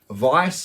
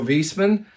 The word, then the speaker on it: Viessmann: vulmer and most importantly Vice or visman as you may pronounce it manufacturers of light of